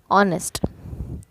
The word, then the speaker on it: honest: Note that honest is the letter H is silent. We say honest, which begins with a vowel sound.